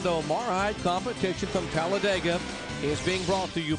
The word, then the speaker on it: Talladega: for racing here in Talladega Alabama this racetrack almost doesn't need describing it's a four-syllable word it means fear you simply say Talladega metal tribes two point